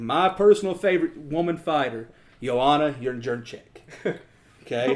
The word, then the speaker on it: Jędrzejczyk: That is Zhang Weili fighting my personal favorite woman fighter, Joanna Jędrzejczyk. Okay, how do you like that pronunciation?